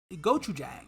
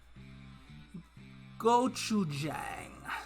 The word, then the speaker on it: gochujang: cuisine that's Goku that's goat goat to get go to Jack go go to Jack I eat it all the time have it in my in my apartment right now gochujang I said it right that time take the jersey number